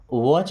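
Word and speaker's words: watch: okay then वॉच आउट देखिए यहां पर टी साइलेंट है ना क्या पढ़ना है वॉच वॉच का मतलब देखना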